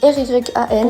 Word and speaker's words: Ryan: Enfin, pas totalement en fait parce que mon prénom s'écrit R y A N. Pour ceux qui l'ont compris, c'est à l'américaine.